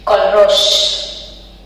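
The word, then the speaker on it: Kohlrausch: कि एक साइंटिस्ट थे, उन्होंने जो चीजें एक्सप्लेन करी, इनका स्पेलिंग भी ऑकवर्ड है, KOH, फिर L, फिर R, AU, SH, कॉलरोश।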